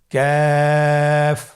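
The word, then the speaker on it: ك: আবার বলুন ক্যাফ। কাফের মাখরাজ আমরা স্ক্রিনে দেখতে পাচ্ছি। কাফের মাখরাজ হলো জিহ্বার গোড়া থেকে একটু আগে বাড়িয়ে তার বরাবর উপরে তালের সঙ্গে লাগিয়ে উচ্চারিত হয়।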